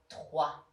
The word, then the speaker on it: trois: The first one is the sound wa that you will hear in trois.